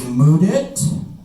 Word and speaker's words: Mudit: My name is Mudit. That's spelled with the words mud and it. Back to back.